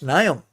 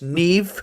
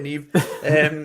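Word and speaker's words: Niamh: I once called a girl Neve Niam when I read her name out once. Yeah, classic. I went, who the fuck's Niam? She was like, it's Neve. I was like, oh shit, sorry, Neve.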